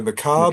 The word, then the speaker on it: macabre: Macabre? Machiavellian? No, macabre Macabre?